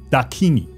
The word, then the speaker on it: Dakini: 达尼基文中的达尼基梵语念作 Dakini，它是一种从天上飞下来的可以吃人的恶魔。